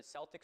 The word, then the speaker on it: Celtic: Here in Ireland, except for the initial soft say in sports teams names like the Celtics, Celtic with a hard C or K is the standard.